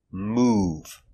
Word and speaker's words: move: o v is O example move making the long ooh sound move move I am